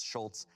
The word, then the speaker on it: Schultz: Schultz, S-H-U-L-T-Z versus Schultz, S-C-H-U-L-T-Z. So they might just be like one letter off in their last name. Yeah. It is the difference of a single silent letter.